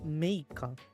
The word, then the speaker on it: Meika: Meika, apparently. Meika. Even though it's like the kanji is ai and kanae. So yeah, Meika's the pronunciation.